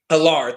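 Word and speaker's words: Allar: I can't pronounce his last name ever correctly, but Drew Alar. Alar, thank you.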